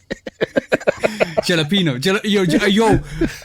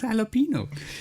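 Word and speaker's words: jalapeño: No, she does jalapeno. Say it like it's supposed to be said. Like She's saying it wrong too? Because she ain't saying the yo at the end.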